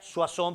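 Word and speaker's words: Soissons: en una ciudad llamada se pronuncia su acción pero se escribe soy songs en francia el pueblo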